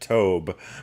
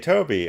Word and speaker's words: Toby: that helps because I always want to pronounce it Tobe but CJ Toby all right that's a